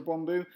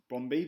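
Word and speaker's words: Brøndby: the best players for bromo oh and um yeah so any English fans or English people watching this you're going to think that bromi is pronounced bromi but it's not it's pronounced bromo um that's something else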